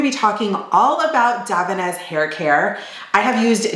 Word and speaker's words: Davines: So the brand Davines, and that is how you pronounce it, Davines. I know people will say Davines and other things like that, but it was founded in 1983 in Parma, Italy by the Bellotti family.